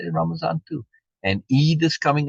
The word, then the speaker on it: Ramadan: it's the end of Ramadan I know it's spelled with a d but beina pronounces it with a z now maybe elsewhere in